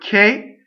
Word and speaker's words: che: though sewn right now the word k is also a strong mono syllable it has a closed e see the H is there after C to make the DC hard so CH e is K C II would be shape so okay so K